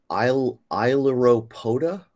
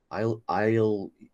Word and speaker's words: Ailuropoda: If you look at the name of the species, you see that, how do you pronounce this, RC? Ailuropoda?